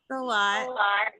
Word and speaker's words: Salat: Is that how you say it, Sarah? A lot. Yeah. SALAT.